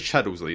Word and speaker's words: Chaddlesley: So thank you to Chaddlesley, or Chaddlesley? I'm pretty sure it's Chaddlesley, that's how you say it.